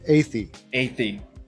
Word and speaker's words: Athey: Athey.